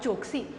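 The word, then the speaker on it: choktse: Number 2, small tables called chokshi. Students, here T is silent.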